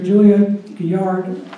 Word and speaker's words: Julia Gillard: Before Tony Abbott was the Prime Minister, Julia Gillard, that's how you pronounce her name, she installed a carbon tax in Australia of $15 per ton.